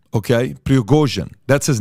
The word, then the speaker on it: Prigozhin: Number one, the guy behind Wagner Group is a guy named, I want to pronounce this correctly, Yevgeny Prigozhin. Okay, Prigozhin, that's his name, Yevgeny Prigozhin.